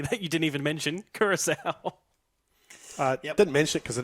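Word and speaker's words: Curaçao: 4th place, aside for me, that you didn't even mention, Curacao. Didn't mention it because I didn't know how to pronounce it. I was calling it Coco, but yeah, Curacao for me to finish 4th.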